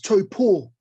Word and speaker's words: Taupo: He's like, nah, bro, it's Taupo. That's how you say it.